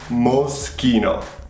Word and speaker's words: Moschino: Moschino? Jesus, okay. Seriously, is that how you... Well, yeah. I've never heard of this one before. CH is? K. K. K. So it's Moschino.